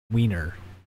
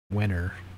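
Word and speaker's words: Wehner: This is written by somebody named Mike Wiener. Is that how you say it? Wenner.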